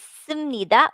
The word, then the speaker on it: 습니다: This is piyup, but it is pronounced as nida. This is sumnida, umnida.